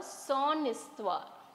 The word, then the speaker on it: histoire: So il parle de son histoire. So here also we cannot use sa histoire because H is silent.